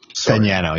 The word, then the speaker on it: Fagnano: But to be fair, with what you said about, is it pronounced Fagnano? Fagnano, yeah.